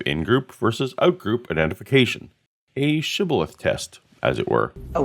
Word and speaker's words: shibboleth: said now unto him say now shibboleth and he said sibilith for he could not frame to pronounce it right he was a password